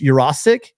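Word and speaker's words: Yurosek: I looked up the pronunciation. The guy was saying it wrong on the telecast on the Pac-12. It's Jurasic, and 6'5", 225.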